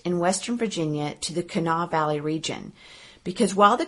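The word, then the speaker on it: Kanawha: there in West Virginia despite how it's spelled they seem to just pronounce it Cana so that's what we're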